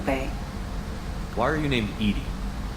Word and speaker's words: EDI: why are you named Edie Edie is the phonetic pronunciation of EDI that is an acronym for enhanced defense intelligence how are you getting along with Jovie mr.